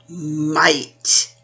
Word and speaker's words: might: Might. I am strong with lots of might. So again, G-H is quiet. I says a long I.